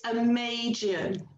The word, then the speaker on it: Amagian: I can't even spell it. What? So, Lynn, tell us more. It's Amagian.